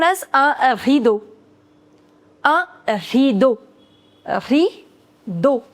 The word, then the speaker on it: rideau: Rideau. The pronunciation of E-A-U in French is O.